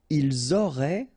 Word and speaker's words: ils auraient: Ils auraient, remember, ENT, you don't pronounce it, auraient, ils auraient, elles auraient.